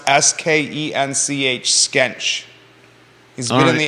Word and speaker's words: Skench: like Ryo isn't Rio okay that says it's pronounced s-k-e-n-c-h skench he's been in the area for 60